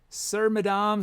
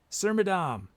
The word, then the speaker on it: Sir Madame: okay so sir madame wants to remind with rhyme with saddam okay i got it sir madame saddam hussein sir madame is that it saddam